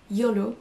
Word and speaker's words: YOLO: Pensez bien à le prononcer YOLO comme un mot, même si chaque lettre a une signification particulière.